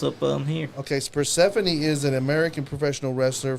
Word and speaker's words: Persephone: Persephone. Yep. Yes. That is how you Persephone.